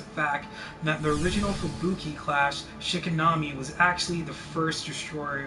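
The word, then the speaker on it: 敷波: It is pronounced approximately Shikinami and Shikinami Hideaki Anano, has confirmed that Asuka,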